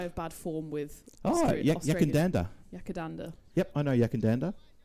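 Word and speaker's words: Yackandandah: And I'm going to let you pronounce it because I have bad form with Yakandanda. Yakandanda.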